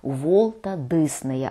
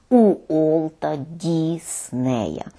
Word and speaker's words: Волта Диснея: Наголошую саме на такому правильному написанні і вимови цього імені. Волта Диснея, а не Уолта Діснея.